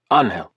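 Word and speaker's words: Ángel: Anhel, he pronounced it anhel.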